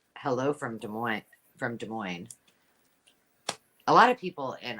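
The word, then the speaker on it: Des Moines: from De Mo from De Moine a lot of people in Iowa say do um does Moz they say and a lot of people just don't know how to say it so you know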